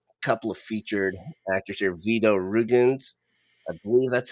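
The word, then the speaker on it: Vyto Ruginis: Vito Rugens, I believe that's how you say his name.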